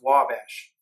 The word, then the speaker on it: Ouabache: if I said it right but it's actually pronounced Wabash so this is where we're going to be